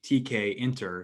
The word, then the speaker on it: tkinter: refer to it as tkinter but commonly it is derived from the tk interface so the correct way would be tk enter to pronounce it but um these are